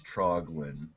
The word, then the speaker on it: Troglin: de derus and how do I pronounce your last name oh I I like that you asked that's troglin troglin all right troglin